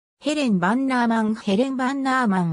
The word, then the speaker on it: Bannerman: んぼでヘレンバンナーマンと表記されたためバンガーマンとする表記が一般的であるがバナナマンあるいはバナーマンとする方が実際の発音に近いイギリス陸軍の軍医